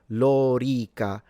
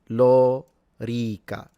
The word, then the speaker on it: lorica: The armor would be lorica segmentata. So both the O and the E are long. There he is. Lorica.